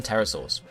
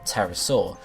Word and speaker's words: pterosaur: Terra, which comes from pterosaur. And when you say pterosaur, you say pterosaur, okay? You actually say it with the A almost, even though it's spelled with the O.